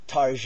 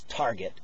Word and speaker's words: Target: an exclusive cloer uh tar it's called you know some people mispronounce it as Target but uh they're probably